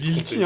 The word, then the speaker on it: Lilti: Et par contre, depuis tout à l'heure, on dit Little, mais en fait, je me suis C'est trompé. Lilti, hein. Ouais. C'est Lilti. Ah, voilà. Lil T. Lilti.